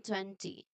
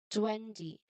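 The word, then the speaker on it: twenty: So the strong part here is at the beginning. 20. 20. Say it with me. 20. We can also begin 20. Say it with me. 20. You can also say it like um 20. So there's more of likely a soft D sound. So we don't want that.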